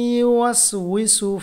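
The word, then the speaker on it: يُوَسْوِسُ: ওয়াসওয়াসিল খান্নাস এরপর আল্লাযী ইউওয়াসউইসু ফি সুদুরিন নাস আল্লাযী ইউওয়াসউইসু ফি সুদুরিন নাস এটা হলো আল্লাযী এরপর ইউওয়াসউইসু এখানে এটা সবাই বলতে পারে না এটা দেখুন ইউওয়াসউইসু এভাবে পড়বেন ইউওয়াসউইসু আল্লাযী ইউওয়াসউইসু এটা ফি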